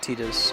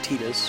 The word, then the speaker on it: Tidus: that game as is tetus and she calls him tetus pronounces it that way they pronounce him the other way in Kingdom Hearts 2 and most other presentations of the character where it's voice acted we want to